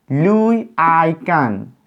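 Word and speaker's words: Louis Kahn: it is a name the name is pronounced like louis i can louis i can so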